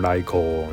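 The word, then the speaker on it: Raikou: I always call him Raiko now cuz that's how you actually say his name in Japanese.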